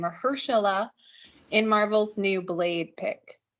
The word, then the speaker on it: Mahershala: I do know how to pronounce that name, Mahershala, in Marvel's new Blade pick.